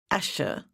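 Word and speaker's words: Asia: Although it's pronounced Asher, it's actually spelled A S I A, like the continent.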